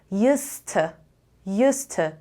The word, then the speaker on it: used to: اولا که شما وقتی دارین used to رو تلفظ میکنین اصلا دیشو نمیشنوین. یعنی میگین used to or used to.